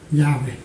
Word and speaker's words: 야훼: 그렇게 발음상 읽어야 된다는데, 자, 뭐 그것도 맞는 얘기겠지만 이걸 영국식 발음을 하면 야훼죠. 야훼. 이 영국식 발음은 야훼입니다. 왜? 이것이 W로 발음해야 되니까.